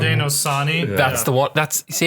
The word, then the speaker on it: Haudenosaunee: TJ jumps in with the pronunciation. Haudenosaunee.